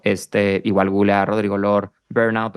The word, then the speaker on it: Lohr: en instagram como Rodrigo lor mi apellido se escribe lohr está muy raro pero literalmente como vees